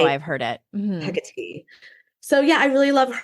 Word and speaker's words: Hecate: Hecate.